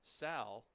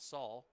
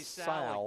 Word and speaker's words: Sal: It's Sal rhymes with pal, so not Saul. Oh, I'm sorry. I should have corrected you. I know that. Dear Lord. Anthony Sal again.